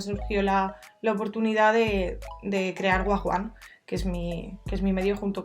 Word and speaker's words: Wagwan: Wagwan, lo primero es, se pronuncia Wagwan, mucha gente nos llama Wag cariñosamente, pero viene del término del slang inglés, que es, bueno, se